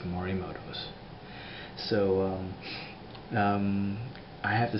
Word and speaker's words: Morimoto: It's Morimoto's.